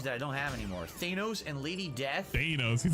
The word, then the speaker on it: Thanos: Top back then I thought his name was Thanos apparently it's pronounced Thanos and now we all know that but we